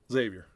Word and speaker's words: Xavier: talking about TBT or zavier Xavier does it rhyme with uh train yes it did you see